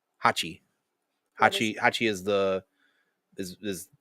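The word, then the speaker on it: 八: Hachi. Hachi is the is is the number eight in Japanese. It's how you pronounce it.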